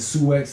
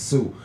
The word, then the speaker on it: Sioux: older than me that said the Sioux X Indians instead of the Sioux Indians when the real pronunciation is Sioux.